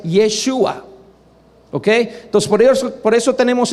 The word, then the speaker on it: Yeshua: Pero ahí tenemos los judíos mismos que están corrigiéndolos diciendo no es Yahshua, es Yeshua.